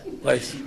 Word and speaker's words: Lace: Lace in the, Lace, did I say it right, Lace? Yeah. Lace.